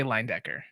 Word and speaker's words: Leyendecker: But for me, I choose to say Leyendecker. Lion. Yeah, like it's almost like it like line, like just like a single line.